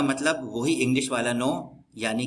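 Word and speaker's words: niño: ए की जो आवाज नी होती है नी नियो नीयो का मतलब बच्चा नीन का मतलब यानी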